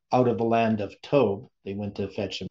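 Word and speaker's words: Tob: as tov uh because the bet at the end is pronounced as a v sound and it means good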